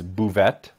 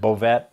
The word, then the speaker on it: Bouvette: last name properly so the proper pronunciation of my last name is bouvet uh growing up everybody uh said bovet uh i also got called uh bouvier uh bouvey every pronunciation of both of